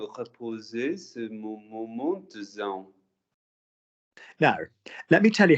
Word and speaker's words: Zen: Yeah, and because it's from a foreign culture, and it's like Zen, but you know, that's why we say Zen rather than Zon or something like that.